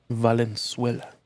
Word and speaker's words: Valenzuela: Valenzuela. That's how you pronounce it. Different than the country of Venezuela, if you didn't know.